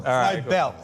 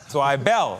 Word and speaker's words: Zweibel: Zweibel. Zweibel. Zweibel. Emphasis on the bel.